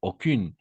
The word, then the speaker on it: aucun: Aucune. On va prononcer aucun au masculin et aucune au féminin.